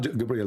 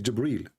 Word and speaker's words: Jibreel: It's not Gabriel, by the way, it's Jibreel.